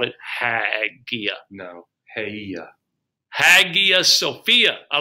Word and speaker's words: Hagia Sophia: Hagia Sophia. I like the name Sophia. It's spelled Hagia.